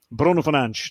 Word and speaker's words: Bruno Fernandes: And his name happens to be Bruno Fernandes. Bruno Fernandes. That's the Portuguese pronunciation of his name.